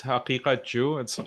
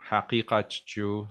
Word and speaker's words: Haqiqatjou: It's Haqiqatjou. It's very hard to pronounce because of the qaf letter. It's like a kind of a guttural. Yeah, guttural. So Haqiqatjou. So if you pronounce it Persian, it's like Haqiqat, and Haqiqatjou.